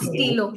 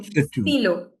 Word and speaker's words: stylo: stylo It's not stylo, stylo.